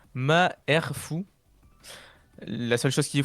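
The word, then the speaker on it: Malfoy: en Mandarin du coup le nom Malfoille se prononce ma R fou.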